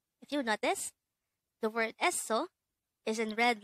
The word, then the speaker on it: 에서: 에서, 에서. This is pronounced with two syllables. The first syllable is 에, the second syllable is 서.